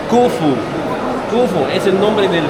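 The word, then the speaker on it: Khufu: En los jeroglíficos es la letra O como un pájaro, la F como un insecto y otro también, por eso se pronuncia Kufu.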